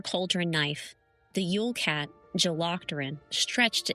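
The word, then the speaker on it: Jólakötturinn: Yolocturin. Yolocturin.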